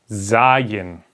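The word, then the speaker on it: זַיִן: curve okay Zion well I'll just put a z like in Zoom okay I'll write it there so you can remember how to pronounce it like in Zoom Zion liking Zoom or Zoo okay where all the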